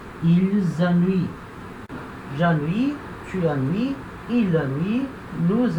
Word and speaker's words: ennuie: Repara, de novo, vogal I no final não tem acento, tem uma vogal fraca, eu não pronuncio. Eu paro de falar aqui no I. Tá?